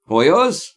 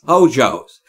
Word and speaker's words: Hoyos: Hoyos? It's like it's Hojo's. For 3 years you've been calling me Hoyos Streaming. It's Hojo's.